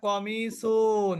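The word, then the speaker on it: قميص: শব্দটা এরপরে দেখেন হাদা কমিসুন কমিসুন মানে কিন্তু জামা যেমন মেয়েরা তাদের জামাকে কামিজ বলে কামিজ ওইটাই কিন্তু আরবি শব্দ ওইটা কি কমিস হওয়ার কথা কিন্তু আমরা উচ্চারণ করি কি কামিজ হাজা কমিসুন এটা একটা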